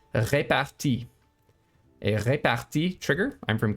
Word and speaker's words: repartie: someone who said that it's wrong of me to call it repartee because it's a word that is borrowed from French, and I'm pronouncing it too much like an English word. So from now on, I will be calling it repartie.